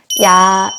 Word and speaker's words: 야: 야 야 야 야 야 는 아아 라는 발음 카페 이를 붙여주시면 돼요 이야 이야 이렇게 그쵸 야 야 라는 소리를 되는 단어가 영어도 있어요 야후 쎄 야 야 그쵸 씨알의 생각하시면 될 것 같아요 자 한국 단어를